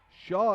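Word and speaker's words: Hsia: back outside to Shaw Shaw is spelt H s I a by the way and a tie-up take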